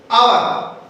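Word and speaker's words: hour: तो ये ऐसे शुरू है, लेकिन ये साइलेंट होता है। क्या कहते हैं? आवर कहते हैं उसको।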